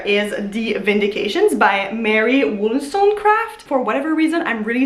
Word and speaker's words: Wollstonecraft: And the one book that I bought over there is The Vindications by Mary Wollstonecraft. For whatever reason, I'm really struggling pronouncing that name, Wollstonecraft.